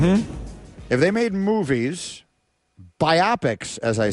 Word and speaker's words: biopic: you see that word b i o p i c how would you pronounce it I pronounce it biopic see I I I